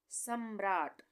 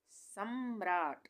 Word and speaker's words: सम्राट: सम्राट, सम्राट, यहाँ पे आधे माँ का उच्चारण हो रहा है, र पूरा आ रहा है।